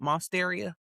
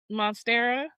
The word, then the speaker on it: Monstera: Myself like I got that monsteria. How how do you pronounce it? Monstera.